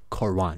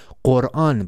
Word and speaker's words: Quran: But actually the name of this book is not Quran. It is Quran. But because they cannot pronounce the B sound in English because they don't have any sound.